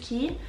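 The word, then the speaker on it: Quay: Det skrives Kui, men jeg har lært at det uttales Ki.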